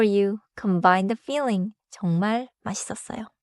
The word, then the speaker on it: 맛있었어요: 맛있었어요.